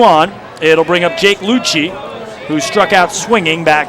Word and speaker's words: Luce: And the count level on Jake Lucci, who spells his last name like Luce, L-U-C-E, but pronounces it Lucci.